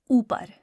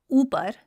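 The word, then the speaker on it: اوپر: So our first example is upar. Whenever the sound oo is at the beginning of a word, as it is in upar, then you'll need the help of alif to produce that sound.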